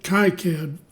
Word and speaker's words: KiCad: I've been pronouncing it KiCad for so long, but it's K-I-C-A-D, and it's free, runs on Windows, runs on Linux.